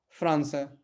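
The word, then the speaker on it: França: तो अगला है एफ, एफ, है ना, एफ, एफ से बना फ्रांसा, ठीक है, फ्रांसा। तो फ्रांस को जब भी आपको पुर्तगाली में बोलना होगा तो हम क्या बोलेंगे उसको? फ्रांसा, ठीक है, एफ, एफ से फ्रांसा।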